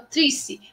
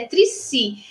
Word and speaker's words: Triccy: Olha, eu aprendi a pronunciar o nome dela corretamente, porque a gente acha que é o Trissi, mas é Trissi.